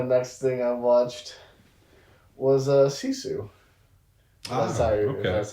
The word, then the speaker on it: Sisu: So that was Hardcore Henry, and the next thing I watched was Sisu.